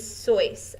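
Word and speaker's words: sois: down that the vosotros form of ser is soyce s-o-i-s and that's like saying y'all are like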